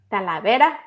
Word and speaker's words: Talavera: Talavera? Talavera.